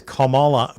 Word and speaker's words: Kamala: have her T teleprompter spell out Kamala as commala commala to help her pronounce her name the Houston rally I'm on